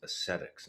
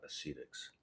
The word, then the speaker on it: ascetics: about buddha who practices i think it's pronounced ascetics not acetics just thought about that